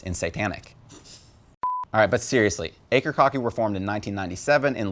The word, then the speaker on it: Akercocke: and yes the band name is pronounced acre kaki which means your dick hurts in satanic alright but seriously acre kaki were formed in 1997 in London England admittedly